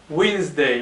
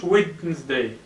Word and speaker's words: Wednesday: Wednesday لاحظتوا هنا دي، هاد دي silent ما كيتنطقش، كنقولوا Wednesday ما كنقولوش Wednesday.